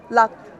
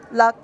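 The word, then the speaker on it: ལག: If we have the letter La and then we have a Ka as our Jingjuk, the sound is Lak. Lak, which means hand.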